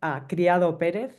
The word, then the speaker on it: Criado Pérez: So you pronounce it Criado Pérez.